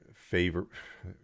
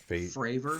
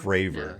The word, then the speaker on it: Fravor: displeasure about having only the two graves and favor. I was mispronounced. It's favor. It's what is it? Fravor. Fravor. Yeah. Yeah, it's Fravor.